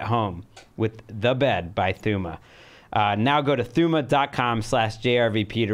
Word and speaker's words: Thuma: I said it wrong off the top, but I fixed it, Thuma.